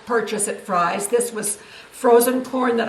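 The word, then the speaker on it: Frei's: So these are the three things that we got at Fry's, and Fry is spelled F-R-E-I.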